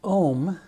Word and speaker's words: Om: Home's the end of the So ohm, which again rhymes with home, and you hear that